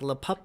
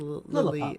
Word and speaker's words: Lillipup: Like Lipup or something? Lillipup. Lillipup. I got myself a shiny one, and so did Heather, so that was pretty fun.